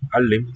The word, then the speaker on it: معلم: Mu'allim, the doubled L.